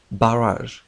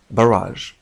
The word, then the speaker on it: barrage: هذه الكلمة تنطق نطقين. في أمريكا تنطق barrage وفي النطق البريطاني تنطق barrage.